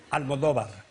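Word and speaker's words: Almodóvar: So, anyway, if you want to pronounce it like if you were Spanish, excuse me that I'm so long, then it is Pedro, yes, you said that. Pedro? Pedro, yes. Almodovar.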